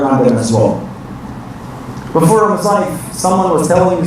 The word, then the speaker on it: Ramadan: It's Ramadan. Because some people, they want to be very, American, they say Ramadan. We don't have Ramadan.